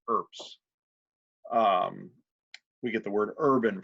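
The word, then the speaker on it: urbs: guys information be s2 there's pronounced with a like a PS so it's actually herbs we get the word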